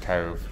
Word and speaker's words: Cobh: Titanic I think so it's actually pronounced Cove not cob which I've been saying